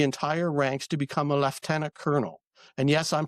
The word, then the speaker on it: lieutenant: It's left tenant. It's not lieutenant. Lieutenant is American. Left tenant is Canadian and British.